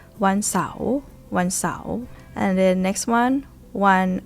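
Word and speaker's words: เสาร์: Rising tone because Sao Sua belongs to high class, right? One Sao. One Sao.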